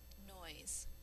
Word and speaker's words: noise: S is saying its second sound. The silent E is there for a miscellaneous reason, but probably to make the word not look plural.